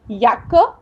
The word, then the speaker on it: Jacke: तब हमने देखा था जे का प्रोनाउंसिएशन यट करते हैं, तो इसलिए दी याक्के इस्ट ब्लाउ, ब्लाउ ब्लू।